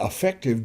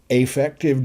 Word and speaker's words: affective: domain you've got the affective domain I say effective and it's not the correct pronunciation but it distinguishes for me that affective is not effective so the effective domain